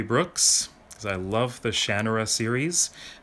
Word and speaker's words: Shannara: because I love the Shannara series. I say Shannara because, well, that is how he pronounces it. If you've seen the TV series, they say Shannara. I've just gotten used to saying Shannara.